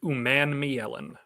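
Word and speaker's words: Umanmielen: So Titans fans, get ready to learn that it is pronounced Uman Mielen. Princely's in my first round. I think he's in the first round. If he's there at the top of the second, Uman Mielen.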